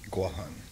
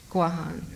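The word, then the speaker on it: Guåhan: Craig Santos Perez is a native Chamorro from the Pacific island of, I'm going to say Guam, but how is it pronounced the right way? Guahan. Guahan, thank you.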